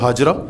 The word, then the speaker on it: ہاجر: اپنی زوجہ محترمہ جناب ہاجرہ، جن کو ہم اردو میں ہاجرہ کہتے ہیں بلکہ اس کا صحیح تلفظ ہاجر ہے، جناب ہاجرہ کو لے